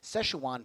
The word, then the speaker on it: Szechuan: And it looks like we're going, and I learned how to say this on stream, Szechuan Palace. I can say it correctly.